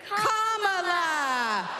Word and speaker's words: Kamala: put it together and it's 1 2 3 comma all right so let's practice let's practice everybody on the everybody over here say comma everybody over here say together for president